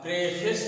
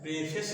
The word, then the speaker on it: preface: इसका उच्चारण जो है प्रेफेस नहीं है, प्रेफिस है। इसको कहते हैं प्रेफिस, प्रेफिस, FIS ऐसे करके प्रेफिस, इसको पढ़ा जाएगा प्रेफिस।